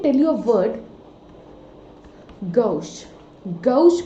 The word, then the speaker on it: gauche: Gauche pronounce करते हैं Gauche, we pronounce it gauche.